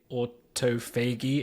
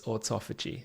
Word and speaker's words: autophagy: you see that always stump me in the pronunciation and autophagy is one of those every time I read it I say Auto fagy in my head every time how I say